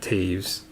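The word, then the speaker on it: Toews: jonathan quick for the kings i did not pronounce it right hayes you're kidding it's not taves get out of here taves there's no a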